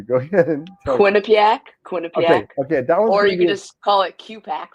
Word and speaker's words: Quinnipiac: I'm going to mispronounce this university, so I'm going to have you go ahead and tell me. Quinnipiac, Okay, Quinnipiac, okay, that one's or going to you could be.